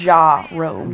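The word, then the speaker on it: Ja'Rome: Okay, your Jerome is spelled with a J. Yes. Ja-Rome.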